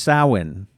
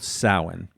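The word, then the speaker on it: Samhain: So it's spelled Sam Hayne, but it's pronounced sin. Yes. So that's a correction from a year ago when we were referring to the Irish tradition. It's called sin.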